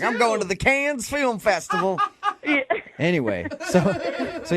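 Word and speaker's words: Cannes: But the pronunciation, is it con or can?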